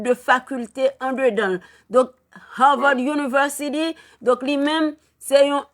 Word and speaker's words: Harvard: pas connais prononciation bon Avard oui Avard Collegge non Harvard University H Harvard University son université c'est pas